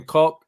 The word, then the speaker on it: Koch: How do you pronounce this? Is it Struijk? Is that right, Tom? Struijk, yeah. Struijk, yeah. And then Koch.